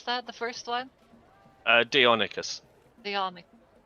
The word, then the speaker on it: Deinonychus: How you pronounce that? The first one? Deinonychus.